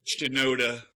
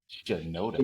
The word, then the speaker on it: Shinoda: Shinoda. Shinoda.